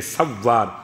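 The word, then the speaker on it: سوّار: آسانی ہو۔ سین واو الف رے اور واو پر تشدید ہے، سوار، سوار نہیں سوار، ٹھیک؟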